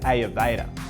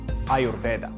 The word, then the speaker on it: Ayurveda: ever did before anyways this brings me to ayurveda which is actually correctly pronounced ayurveda but i'm going to keep saying it the